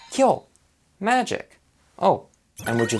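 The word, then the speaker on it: きょう: and it's pronounced as ki yo which is wrong it's supposed to sound like kill here the blend there much faster and smoother so to blend these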